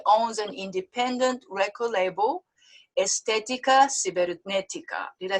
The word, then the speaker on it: Estética Cibernética: At the tender age of 27, he already owns an independent record label, Estética Cibernética.